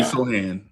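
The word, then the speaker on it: Sochan: Show Rando Jeremy Sohan. So the C is silent.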